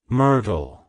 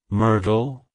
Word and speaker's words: Myrtle: plant it's pronounced as mytle mytle mytle to pronounce it correctly emphasize the first syllable and soften the art sound the T is then pronounced softly almost like a d like hello Myrtle good by Myrtle if